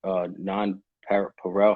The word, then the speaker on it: NonPareil: And the I guess you're under the non-Pareil.